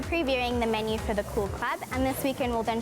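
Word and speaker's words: Koo'l Klub: on down to the cool club pop-up restaurant at bacardi holiday club you have to say it like that cool cool cool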